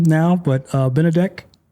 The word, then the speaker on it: Benedek: And I'm going to let you I I know how to say your name now, but uh, Benedc.